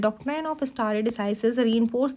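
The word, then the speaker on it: stare decisis: Under article 141 ऑफ the Indian constitution, the doctrine of स्टारे डिसाइसिस। इसकी pronunciation जो होती है वो होती है the doctrine of स्टार डिसाइसिस इज the principal supporting common law.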